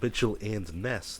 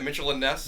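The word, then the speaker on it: Mitchell & Ness: it's made by yeah it's not Mitchell and Nest it's not two people I don't think well how come it says Mitchell and NES like that's what it said Mitchell it's not how you pronounce it what am I supposed to say Mitchell andess yeah yes there you go no that's like a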